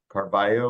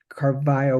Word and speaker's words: Carvalho: And he felt strongly that Carvalho would have used in the era the sort of the Sephardic pronunciation. I think other people may feel differently, that maybe he had anglicized it and they called themselves Carvalho.